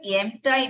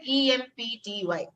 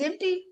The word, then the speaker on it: empty: was one candidate who asked me what does em tie me i i i was puzzled because i've never heard a word like that m m-type i said okay spell it out and then he said e-m-p-t-y that's empty and in class 10 i was